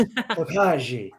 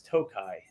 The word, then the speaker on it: Tokaji: I would be Oh, it's Tokaji.